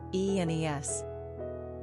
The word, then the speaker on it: Inès: Pronunciation, E and Es.